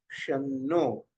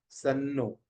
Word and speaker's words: शन्नो: तो ध्यान दीजिए, यह है शन्नो, नॉट सन्नो, सा नहीं।